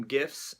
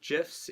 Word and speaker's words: GIF: I am going to do a soft G and call them gifts instead of gifs even though I believe that some people will disagree with that Cardinals gifts prefers it